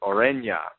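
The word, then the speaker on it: Ureña: latin pronunciation but uh the way he says is aurenya you know with a with almost like a tilde over the end and then you put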